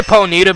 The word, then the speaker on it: Ponyta: ponita in this grass i say ponita because that's how they say it in pokemon stadium and that's how like